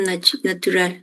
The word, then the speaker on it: natural: Ventilação natural. Natural. Isso. Perfeito. Natural. Muito bem. A L final, né? No final de sílaba, sempre com som de O.